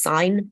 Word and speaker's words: sine: trigonometry uses three functions and these are called sine okay so spout sign shortened and pronounced sign but that's what it looks like cosine and tangent I'm